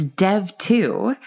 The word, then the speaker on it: dev.to: So if folks want to check it out for themselves, it's Dev2. And I'm going to spell it so I don't accidentally misbrand you, which is dev.to.